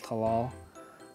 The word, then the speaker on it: Talal: It's Alal Talal.